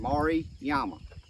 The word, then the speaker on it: Maruyama: But guys, that right there is a Maruyama. That's how you pronounce it. Maruyama.